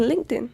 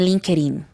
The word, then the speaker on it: LinkedIn: The pronunciation is not linkerin. What is linda? It's LinkedIn. Thank you very much. Because many people say link. No, no, guys. LinkedIn. Okay. LinkedIn.